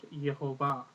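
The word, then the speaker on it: Yehovah: entities in the tanak where the Divine name has a colum between the H and the V giving us yahovah um there are places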